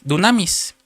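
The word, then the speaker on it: δύναμις: Cuando Pablo dice en poder, usa una palabra griega que está en la concordancia Strong 14:11, y es una palabra griega que se pronuncia dunamis, que quiere decir fuerza, que quiere decir milagro, eficacia, poder, maravilla, capacidad, potencia.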